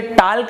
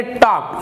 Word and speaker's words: talk: देखिए TALK, तो आप इसे टाल्क नहीं पढ़ेंगे, आप इसे पढ़ेंगे टॉक, ये होता है टॉक, TALK। तो यहाँ पे जो L है वो यहाँ पर साइलेंट हो जाएगा, टॉक।